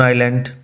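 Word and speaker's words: island: অন big half moon আইল্যান্ড আমরা big half moon দ্বীপে থাকি আইল্যান্ড বানান উচ্চারণ লক্ষ্য করো এস সাইলেন্ট থাকবে উই লিভ অন দা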